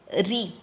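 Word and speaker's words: riz: For example, re, that is R-I-E-Z, that Z you should not pronounce. You have to pronounce what? Re only. It means rice.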